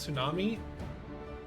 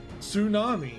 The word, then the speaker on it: tsunami: It's just tsunami. Yeah, exactly what Miki said. Tsunami. So, is it Sue or Nookie? Is it just O sound like Sue? like soon. Is that how you do a ts sound?